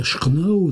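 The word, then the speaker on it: Château-Renault: surplqu entre vandô et château Renot qui se prononce chnao dans la langue des postillons c'est bien imité par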